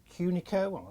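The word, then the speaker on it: Cucino: It's called Cunico. I think that's how you pronounce it. I'm never too sure. It's C U C I N O.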